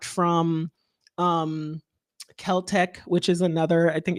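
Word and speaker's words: Celtx: Final Draft or it's clearly not from um Kel-Tech, which is another I think it's spelled CLTX, which is another cheaper version of script writing software that I've used before.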